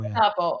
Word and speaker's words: Gestapo: Oh, is it a hard G? Gestapo? Yeah, Gestapo. Gestapo. Oh, guys. All right. Thank you. Guys, my immigrant came out. There you go. Yeah, hard G.